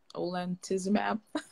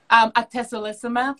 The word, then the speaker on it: atezolizumab: So you were starting to talk about the, I don't even know if I'm saying it right, olentizumab. Atezolizumab and pembrolizumab.